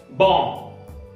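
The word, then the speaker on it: bomb: नम, नम, बॉम, बॉम, जॅम, jam, lime, lime, क्रम, क्रम, डम,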